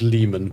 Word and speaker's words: Lemon: First of all, we've got to speak to this dude called Lemon. He says it's pronounced Lehman, but I don't believe him.